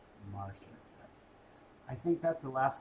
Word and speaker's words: Marcia: M-A-R-C-I-A.